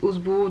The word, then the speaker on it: Oxbow: Oxbow, je sais pas trop comment on le prononce exactement parce qu'il y en a qui disent Osbo, d'autres Oxbow, bref. Nous on l'appelait Osbo au club.